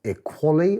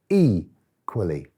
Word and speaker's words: equally: But you see, this tells me that when I read this word, equally, it's the E that is stressed. So this word is not pronounced equally or equally, it's pronounced equally or equally.